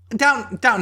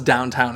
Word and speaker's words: Downton: Like, I legitimately thought it was Downtown Abbey. And then I saw it, like, written out. And I was like, oh, it's not downtown.